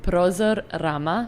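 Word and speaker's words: Prozor-Rama: So it's called Prozor Rama. All right. Yeah. I was asking you to pronounce that.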